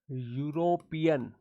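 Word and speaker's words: European: यूरोपियन ऐसे पढ़ा जाता है। इसका प्रोनाउंसिएशन ऐसे होता है। इसको यू से पढ़ा जाता है।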